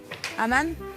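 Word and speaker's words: amann: Alors, je vais le prononcer Queen Yaman. Oui. Et je l'écris K-O-U-I-G-N. Après, Aman.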